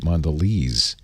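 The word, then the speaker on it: Mondelēz: I saying it right Mon valet or Mondelez it's one of the world's largest snack companies I know that yes got a little bar over the e which would indicate Mondelez and God you gotta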